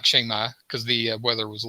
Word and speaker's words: Chiang Mai: And I've been to Chiang Mai, or that's how I was told to pronounce it.